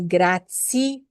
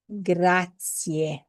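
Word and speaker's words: grazie: Remember, gracia ends with an e sound. not an a sound. So a lot of people say grati or gratier. It's it it's pronounced gratier.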